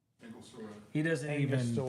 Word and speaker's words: Angostura: Anglo store. Angostura. He doesn't even Angostura.